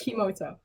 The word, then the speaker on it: Kimota: Kimota, it's atomic backwards. Yes, that's what it was. It was atomic backwards. It was so... It's literally atomic backwards. I wish but it was spelled with a K, backwards. So it's Kimota.